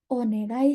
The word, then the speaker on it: onegai: Tapi kalau orang Jepang sama yang udah cepat bacanya jadinya onegai. Ocha o onegai shimasu. Jadinya mendengung ya, bukan G. Negai, negai.